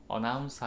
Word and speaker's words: announce: announce 하면 두 번째 second syllable 강세고요.